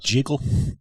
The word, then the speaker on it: Jekyll: You know, it's actually pronounced Jekyll.